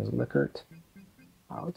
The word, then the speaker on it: Likert: So you'll call it Likert, but correct pronunciation is Likert.